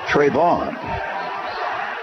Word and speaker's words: Trayvun: Spells his name Trayvun, but pronounces it Trayvon.